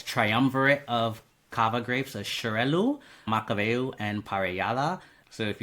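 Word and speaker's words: Xarel·lo: I love hearing the grapes pronounced correctly because I've been Zarello is how I've always pronounced it, but that was nothing like you said it. So, no, it's like an sharel.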